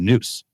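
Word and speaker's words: nous: that well there's there's no concept of the Noose in Western Christianity so you don't have the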